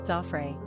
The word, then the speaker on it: Geoffrey: English and the French; the French pronounce it Zoffre.